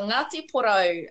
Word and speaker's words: Ngāti Porou: Yeah, the NG is actually pronounced together like saying an N with a silent G, I guess, but like how you say NG at the end of ring.